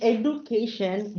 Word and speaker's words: education: So in education, the D is changed with J. So it should be pronounced as education.